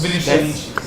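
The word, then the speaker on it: Vinícius: When I asked Shane, how do you pronounce this? Vinicius. Vinicius Junior.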